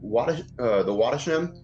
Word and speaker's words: Wattisham: He went on to explain that the Wattisham, that in Wattisham, I think that's how you say that. I'm getting really stumped out of this word. Cece, can you help me out? It's Wattisham.